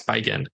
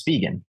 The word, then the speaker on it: Spigen: I don't think it's Spigen. I think it's Spikeen. You said it right the first time. It's Spigen.